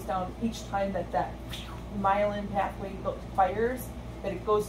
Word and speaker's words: myelin: the brain are called myelin connections kind of like rhymes with violin um and so really you're just making that myelin pathway a little bit